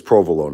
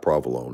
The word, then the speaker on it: provolone: It's provolone. That's the right way to say it, not provolone. That's just a Brooklyn thing, but provolone.